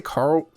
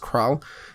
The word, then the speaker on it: Kral: They're people that follow a set of rules set by I want to say Carl, but I think it's pronounced Kral.